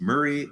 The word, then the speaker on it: Moray: And it looks like Moray, Morai, but it's pronounced Murray. So it's Murray and Gordon are closer to where they can pinpoint some of my DNA.